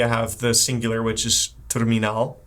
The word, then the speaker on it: terminal: you have the singular, which is terminal, exactly the same word, just different pronunciation. Terminal.